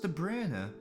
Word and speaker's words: De Bruyne: the brunette you know it's actually supposed to be pronounced de bruyne i've never ever ever pronounced it i have no idea who the commentator is matthew um yeah it's pronounced the bruiner but it's but come on de bruyne sounds so much more powerful right it's over